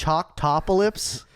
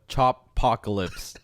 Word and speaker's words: Choppocalypse: How do you pronounce Chalktopolis? It's called the Choppocalypse Tour. Like apocalypse, but chopping.